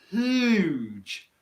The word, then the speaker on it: huge: this all right so if i go back to the word huge which is really difficult huge huge huge i hope they're here that there's not really any noise coming out my throat until i actually make the h sound okay hider says i'm